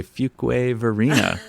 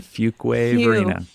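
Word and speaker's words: Fuquay-Varina: And figuring out how to say Fuquay Verena. That's how you say it, everyone. Fuquay Verena. Few, not many. Right. Quay. Not any other way.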